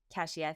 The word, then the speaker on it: Keshia: Cesia, thank you so much for being here.